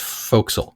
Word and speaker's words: forecastle: about that spelling of faux Castle is way it's spelled on the page but the word it's usually spelled forecastle fo re CAS T le but pronounced fo'c'sle but he writes in